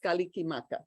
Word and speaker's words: Kalikimaka: borrowed from other languages hawaiian borrowed christmas and says kalikimaka in five syllables so any word that